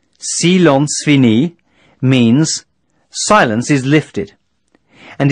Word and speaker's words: silence fini: Silence fini, pronounced silence fini, means, silence is lifted, and is used to signify the end of the emergency and resumption of normal traffic.